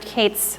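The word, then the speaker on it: k8s: nope we're good okay short for kubernetes pronounced Kate's pronounced kubernetes both are correct we talked about the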